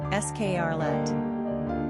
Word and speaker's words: Scarlett: Number of syllables, 2. Ranking popularity, 42. Pronunciation, escarlate. Simple meaning, rich cloth, brilliant, vivid red hue.